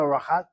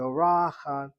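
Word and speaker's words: אורחת: Hannah read the word, is the emphasis is on the second syllable. Why so? Syllable number 1 is long vowel, open syllable is regular. Syllable number 2 has a patach not closed by shvanach on the yechet or dagesh chazak in the chet, so it's irregular. And if you want to be careful with your grammar, you should accent that irregular syllable. So she read it as ora, ora, not orachat, but orachat.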